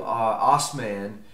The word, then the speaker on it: Osman: old Empire in 1302 Osman which would become known as Osman the Great or auth men in the great where the term ottoman comes from which was a mispronunciation by Western Europeans Osman would become the